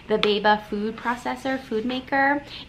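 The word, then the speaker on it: Béaba: This is the, I think it's pronounced Beaba, the Beaba food processor, food maker.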